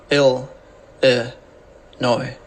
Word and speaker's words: Illinois: video we'll look at how to pronounce Chicago and Illinois ill noi Illinois kind of getting it